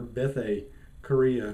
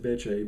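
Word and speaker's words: Bethe Correia: Like I've been calling her Bethe Korea for years and years. Nowhere in history would I've been able to pronounce that Beche, but just going with the Anglo-Saxon pronunciations because it's what we do around here.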